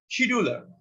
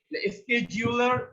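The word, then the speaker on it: scheduler: এর মধ্যে যেমন আছে একটা শিডিউলার, বা এটার সঠিক উচ্চারণ কিন্তু স্কেজিউল। স্কেজিউলার এটা কি কাজ করে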